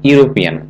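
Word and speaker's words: European: এ নাম্বারটি হি professor of English he এ ইউরোপিয়ান এখানে এখানে ইউ ইউ এর মত উচ্চারণ হয় article a voice let মি ডু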